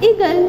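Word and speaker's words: eagle: और यहां पे देखिए ए मतलब की यहां पे ए का साउंड नहीं ए रहा है ए साइलेंट है और मैंने आपको ये भी बताया था की लास्ट में अगर ए आता है तो उसका साउंड नहीं आता है तो ये हो गया हमारा ईगल ओके फटाफट से यहां से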